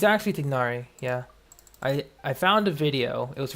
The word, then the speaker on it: Tignari: People say Tainari because it's one H away from the first part being like thigh or Thai. But yeah, Tignari is proper pronunciation.